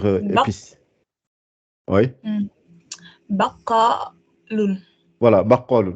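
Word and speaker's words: بقال: voilà, baqalun. C'est la prononciation du qa, on l'entend mieux dans ce mot-là.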